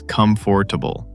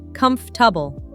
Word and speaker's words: comfortable: I used to say comfortable as comfortable. Every time. Oh no, that's super common. It's actually pronounced comfortable.